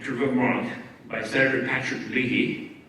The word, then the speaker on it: Leahy: In 2015, March of 2015, I was invited to Vermont by Senator Patrick Leahy, or Leahy, this is how you say it in the States, the senior Democratic senator, because he was having his second environmental summit in Burlington.